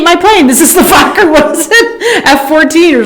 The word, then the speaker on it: Fokker: This is the Fokker. What was it? F-14 or something. That's why I was trying to put a long O on it just to take that away. Fokker, yeah. Fokker.